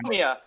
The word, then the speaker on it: Shinomiya: I think the favorite character overall would have been how you pronounce his name? Shimanoya? The French one. Shinomia.